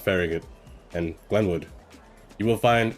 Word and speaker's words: Farragut: name it sounds weird but it's called It's pronounced Farragut and Glenwood you will find a building that